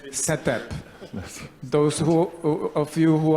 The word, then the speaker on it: CETE-P: native English speakers we it was decided that it should be pronounced as setup those who of you